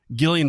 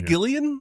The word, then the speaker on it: Gillian: things did you say Gillian huh it's not Gillian no it's Gillian God this world blows my mind I guess the name starts with a G and it's spelt like Gillian it's Gillian usually immediately